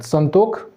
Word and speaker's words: संतोख: खोटा में इसको स जो तलब मूर्धन सा जो होता है, मूर्धन सा को ख का उच्चारण बोलते हैं, संतोख।